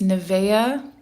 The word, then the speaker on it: Niamh: I always thought that was pronounced Neve. So it's Nevea and then Neve.